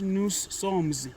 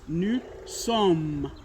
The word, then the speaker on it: nous sommes: This one is nous sommes. It is not nous sommes. No, that's not the correct pronunciation. It is nous sommes.